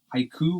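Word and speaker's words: Haʻikū: The haiku, or I'm just going to say haiku. It's HA'IKU, stairs. Also known as the Stairway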